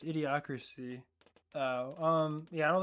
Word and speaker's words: idiocracy: I was about to say, is that pronounced idiosyncrasy? But it's idiocracy.